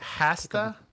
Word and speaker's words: hasta: Because hasta la vista is with a silent H.